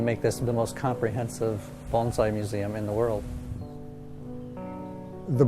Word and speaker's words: bonsai: all the time and they say what is bonsai usually they don't say it like that they say what is bonsai and then so first we have to say